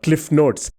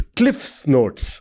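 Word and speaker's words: CliffsNotes: It's not cliffnotes. It's cliff's notes.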